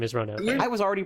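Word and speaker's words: Ronove: i was definitely a roanoff until i realized that it's actually kind of important that his name is three syllables long yeah totally for what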